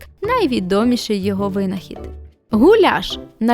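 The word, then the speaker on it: gulyás: Гуляш - найулюбленіша та найпопулярніша угорська страва. Самі угорці вимовляють цю назву як гуяш від слова гуляс пастух великої рогатої худоби.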